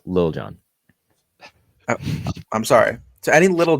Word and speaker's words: Lil Jon: Past years, they have like Little John out there, and I'm like, okay, what are we doing? I'm pretty sure it's pronounced Lil Jon.